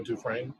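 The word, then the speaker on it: Dufresne: red finally comes in here how do you pronounce Andy's last name def fresyes frin oh defrain frin okay so I'm glad I asked I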